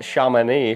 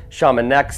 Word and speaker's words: Chamonix: Right now, I am in, apparently it's pronounced Chamonix, France. I've been pronouncing it Chamonix this whole time.